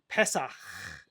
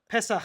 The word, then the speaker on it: Pesach: Pesach. Ch. Pesach. Yeah, you need the ch. You have to really lean into it yeah. at the end.